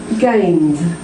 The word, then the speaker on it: gained: Gained. D. Decided. ID. I've added the syllable there.